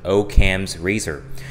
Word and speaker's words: Occam's razor: Okay, that's the pronunciation, Occam's razor.